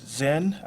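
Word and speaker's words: Zhen: The name is, I'll spell it, Z-H-E-N, it's Zen, last name Tang, T-A-I-N, 21 years of age, and had a Florida registration, tag registration.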